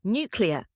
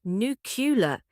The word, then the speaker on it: nuclear: Number five, nuclear. Iron Man carried a nuclear warhead through a wormhole. It's not nu-cu-lar. It's nu-cle-ar. Think clear at the end.